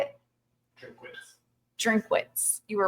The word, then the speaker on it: Drinkwitz: he say that how you say it drink drinkwitz you were right um there's a first um